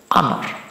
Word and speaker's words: honor: Ini juga sama, cara bacanya bukan honor, tapi honor. Jadi dia termasuk awalan vokal ya.